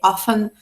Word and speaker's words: often: Lembrando que often se escreve often, mas eu não pronuncio T, often, never, né?